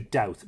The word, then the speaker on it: Dowth: And in the case of Dowth, Dowth is, I always say Dubad, D-U-B-A-D. I have to be very careful here. D-U-B-A-D. And Dua would be the anglicisation of it. Or sorry, Dua would be the modern Irish pronunciation of it, anglicised to Dowth, D-O-W-T-H.